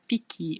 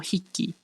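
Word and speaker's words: 匹: For animals, you have piki or hiki. Hiki or piki, depending on the number you are pronouncing. So for example, ippiki, ippiki, ippiki.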